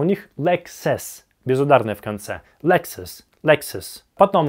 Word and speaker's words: Lexus: Лексус.